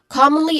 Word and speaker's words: commonly: the content words here commonly first syllable come is the stressed syllable which has a short o sound and then followed by mon which has a strong not strong but uh how do you call this a relaxed vowel sound mon so you can